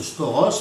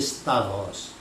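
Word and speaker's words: σταυρός: Alors, ils prononcent mal d'ailleurs la plupart du temps, ils prononcent stauros, mais en grec, sachez que la bonne prononciation c'est stavros.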